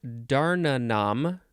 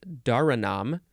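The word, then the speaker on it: dhāraṇam: an Urdu word from the Sanskrit Darna Nam no that's not it it is dharanam which means support or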